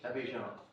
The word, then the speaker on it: Abidjan: The Ivory Coast, can you pronounce that for me, Brian? Abidjan.